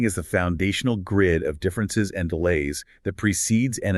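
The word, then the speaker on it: différance: And when you speak it aloud in French, difference and difference are phonetically indistinguishable. They sound exactly the same.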